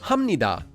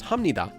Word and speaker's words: 합니다: We previously learned that this is pronounced 합니다 because there's the consonant 비읍 that's followed by a nian.